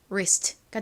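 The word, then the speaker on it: wrist: 이렇게 WR이 연달아 나오는 경우 W는 묵음으로 소리가 나지 않는다고 말씀드렸죠.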